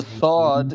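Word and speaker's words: صاد: just the other s The Sod is pronounced like the s in son and then s scene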